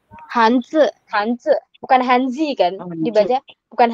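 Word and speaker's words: 汉字: Kalau Z misalnya dalam kata hanz hanze bukan Hanzi kan dibaca bukan Hanzi tapi hanze.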